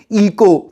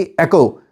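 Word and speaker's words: echo: क्योंकि ज्यादा स्टूडेंट्स क्या कहेंगे? इको। कुछ कहते हैं ईचो, बट इट is actually एको।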